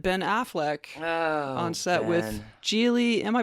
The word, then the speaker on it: Gigli: married JLo met Ben Affleck on set with Gigli am i pronouncing that correctly sure then maybe nobody saw